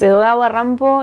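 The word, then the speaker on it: Edogawa Rampo: Japón porque es digamos edod rampo es la pronunciación en japonés de Edgar lampou no Entonces es un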